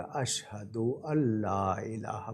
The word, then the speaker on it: اشہد ان لا الہ: نون پر جزم ہے، وہ لام سے مل جائے گا، اشہد اللہ الہ پڑھا جائے گا۔ ان اگر ان پہ